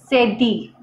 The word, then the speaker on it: cédille: The pronunciation is sedi, la sedi.